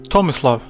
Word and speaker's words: Tomislav: Tomislav.